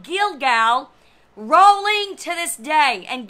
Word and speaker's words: Gilgal: It just sounds exactly like I pronounced it. Gilgal. It means a wheel that is rolling away. It is the same of this particular word that sounds exactly very similar. Gilgal.